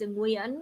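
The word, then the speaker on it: Nguyễn: It's the real one is Nguyen. You can say like we know Nguyen or something, but it's Nguyen. It's creaky tone.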